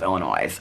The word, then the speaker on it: Illinois: and they are correct they're pronouncing Illinois with an S on the end of Illinois like I don't think they're going to change at this point.